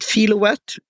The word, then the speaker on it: Filowat: But when I did a search on your name, Ed, is it Filowat? Is that the right pronunciation? Yes. Yeah, like kilowatt with an F.